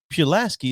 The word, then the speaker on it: Pulaski: crazy yeah but that's incorrect it's pulaski is correct i think